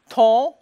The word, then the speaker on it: ton: And then the next T is the first letter of a word, so it is pronounced, and it's spelled O-N. There is another nasal vowel, ton, But then we have